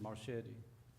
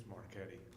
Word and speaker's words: Marchetti: It's Marquetti. I'm sorry, It's Marchetti. okay. I'm used to it. It's got a C, it's got a C in it. It does. Okay. CH.